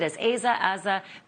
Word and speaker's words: Asa: And boy, do you ever need an attorney when you're in Asa's position. Robert, am I pronouncing her name right? I've heard it as Asa. Be the definitive source. It's pronounced Asa.